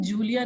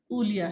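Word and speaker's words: Julie: आप यहाँ देखेंगे pronunciation Julia नहीं Ulia है.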